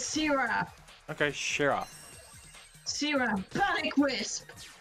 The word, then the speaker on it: Sira: I made a real good choice, did I, Shira? Yeah. But you say my name wrong. Huh? Sira is it the name. I said Shira. Oh. I said Shira. It is Sira.